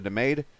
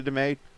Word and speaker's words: DeMay: There's Dakota DeMay, or DeMay, I should say. Found out I was saying his name wrong the whole time.